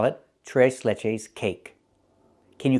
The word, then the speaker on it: tres leches: What is t leches? It's a cake. And we don't call it trese leches. We call it t leches cake.